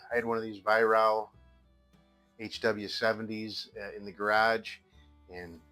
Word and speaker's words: Weihrauch: So I've been getting some grief about how I'm pronouncing it, but I have been told by a couple of different Germans that's the right pronunciation for that. So until an actual German tells me that I'm pronouncing it wrong, I'm going to keep pronouncing it that way.